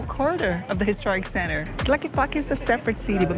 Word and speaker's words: Tlaquepaque: How do you pronounce this name, Gordon? Tlaquepaque.